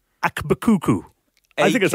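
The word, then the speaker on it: AkBKukU: Now, well, I don't quite know how to pronounce his name. Okay. I think it's Akbakuku.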